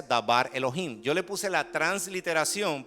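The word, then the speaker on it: דבר אלהים: Entonces, y se pronuncia dabar Elohim.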